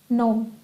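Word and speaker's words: gnome: नोम। Clear है? चलिए, अभी नोम बोलने से आप जी साइलेंट लगा लेते हैं, तो रिसिट और नोम हो गया।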